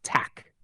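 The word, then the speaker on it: tack: snela two thank you is Tac pronounced Tac three your welcome is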